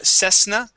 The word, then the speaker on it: Cessna: be a uh a unvoiced s sound so CES Cessna instead of ss it is cess try